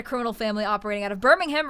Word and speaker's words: Birmingham: Uh, Pey Blinders is about a criminal family operating out of Birmingham right after the end of World War I.